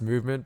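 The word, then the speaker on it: MVMT: brands so you've got boys like uh it's pronounced movement but the brand is spelt mv empty yeah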